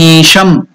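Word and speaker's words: ईशम्: That isham is elongated dirgha. That's why that sign has been indicated on E, the stroke, to represent that it is dirgha, to unit of time, dvimatra kalam. So we shall pronounce that word Gagana sadrusham isham.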